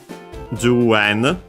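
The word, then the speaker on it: 十円: The accent for 10 plus yen is ju yen, unaccented.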